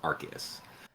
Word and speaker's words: Arceus: they're both correct um but for branding purposes and not making it sound like arse nintendo and i'm sorry pokemon company just changed the official pronunciation to arceus there's a little backstory that that's that's funny i actually did not know that that that's making me more inclined to respect the wishes of the pokemon company and say arceus i'll get caught yeah